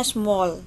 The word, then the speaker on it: small: Nah, tulisannya pakai A ya, tapi membacanya small dengan O, agak O.